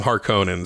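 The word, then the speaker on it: Harkonnen: with the Harkins or Harin I'm calling them har conin because I like that pronunciation better and it's from the original movie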